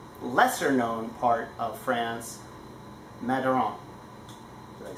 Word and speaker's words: Madiran: And the Laplace family is very well known for making extraordinary wines in an otherwise lesser known part of France, Madiran.